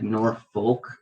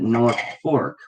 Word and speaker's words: Norfolk: called or spelled like north folk folk like folk people norfolk but everybody pronounces it north fork and there's a reason